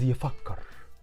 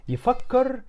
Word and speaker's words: يفكر: It's the same but with some slight changes in the pronunciation.